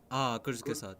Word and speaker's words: Kurzgesagt: And there's this German channel, I'm not pretty sure how to pronounce it, Kurzgesagt, I guess, I don't know. Kurzgesagt, yes.